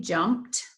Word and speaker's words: jumped: m p e d jumped that looks right j-u-m-p-t-e-d we don't need a t the e-d says that sound j-u-m-p-t no e-d says that sound at the end of a word like jumped so we're gonna answer